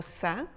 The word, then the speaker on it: ça: d'hier de today yesterday nous avons donc calme qui s'écrit avec un C sans cédille et se prononce que et nous avons le mot ça qui s'écrit avec un CCDI qui se prononce ce et quelques autres exemples